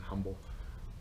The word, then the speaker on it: Humble: H is proper so the H is silent there's a competing story